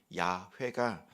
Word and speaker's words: 야훼: 실제 발음은 야훼가 더 바람직한 발음입니다.